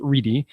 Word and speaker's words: Ready: us is Shan re spelled ready but pronounced Rey at Rice University so